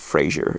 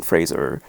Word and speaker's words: Fraser: It's not Fraser, it's Fraser.